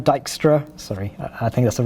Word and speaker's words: Dijkstra: And just to quote, let me pronounce this right, Dijkstra, sorry, I think that's the way you spell it.